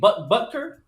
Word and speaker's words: Butker: And it's hard to say his last name. Butker. Butker. Yeah, you said it right.